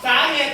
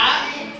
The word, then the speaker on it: สาเหตุ: สาเหตุ สระอุ เก่ง มาก ถ้า ออก เสียง สระอุ จะ อ่าน ว่า สา สาหิต สาเหตุ ถูก ใช่ มั้ย อ่าน ถูก มั้ย ไม่ ต้อง อ่าน ว่า อะไร ครับ สาห สาหิต ไม่ มี สระ ไม่ มี เสียง สระ อู